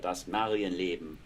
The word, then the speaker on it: Das Marienleben: Mary's Life, Das Marienleben.